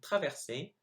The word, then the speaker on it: traverser: So here are the 8 words I mispronounced. So I should have said the second time traverser, dans, tout, Afrique, chameau, serait, génial, nul.